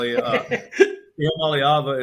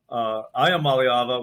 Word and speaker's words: Iamaleava: Iamaleava is how I say it, and that's about as close as I can get. But that's good enough. They're so wonderful. I called him Iamaleava when I first met